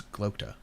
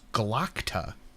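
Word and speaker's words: Glokta: is a glota right because it's g-l-o-k-t-a so in my head that's gloter but I hear it pronounced I know it's galacta so it's just one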